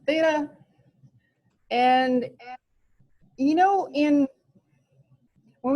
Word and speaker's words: theta: yeah it looks like that and it is pronounced theta and you know in when we do regular